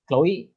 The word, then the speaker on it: CXLOE: e but um yeah my artist name is CX L OE and it's pronounced pronounced the same pronounced the same yes